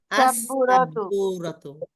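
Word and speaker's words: السبورة: বি গ্রুপের মধ্যে লামের উচ্চারণ হবে না, প্রথম অক্ষরে তাসদিদ হবে। লামের তাসদিদ উচ্চারণ হবে। হবে না, প্রথম অক্ষরে তাসদিদ হবে। তাই উচ্চারণ করেন আলিফ লাম লাগায়া। আস-সাব্বুরাতু।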